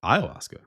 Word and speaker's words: ayahuasca: Pronounce ayahuasca. Ayahuasca.